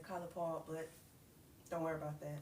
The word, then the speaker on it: College Park: I'm from college park I'm going say it right from y'all for y'all because you know yall not from where I'm from so I'm from College Park I would say colge park but don't worry about